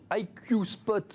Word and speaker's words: IQ Spot: IQ Spot, on va le prononcer à l'anglaise.